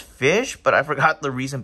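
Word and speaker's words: Ghoti: one of the new goatee cards it's actually pronounced fish but I forgot the reason behind it but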